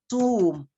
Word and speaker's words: tomb: So whenever words end with the combination MB, like the B is usually silent. Thumb, not thumb. This is pronounced tomb, not thumb.